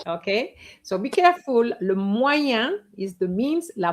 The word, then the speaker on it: moyen: Le le moyen.